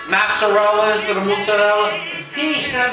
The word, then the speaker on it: mozzarella: He goes, but why you Americans say mutz? Mozzarella. Like we do. We say mozzarella. We say mutz. Right? For mozzarella cheese, we say mutz. He goes, why you say? He goes, it's mozzarella, not mutz.